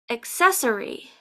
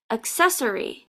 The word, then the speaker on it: accessory: and two s's well maybe if your native language is Italian or some other language like that where the two C's can make a CH sound in English it's pronounced accessory accessory accessory an accessory is